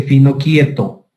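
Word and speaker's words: Finochietto: con el nombre de, se escribe Finocchieto, pero se dice Finocchieto.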